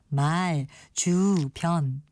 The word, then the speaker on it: 말주변: 그래서 말, 주, 변 이렇게 둘 다 장음으로 발음해야 할 것 같지만 이런 경우에 앞에 있는 단어의 모음만 장음을 살려서 말주변 이렇게 발음합니다.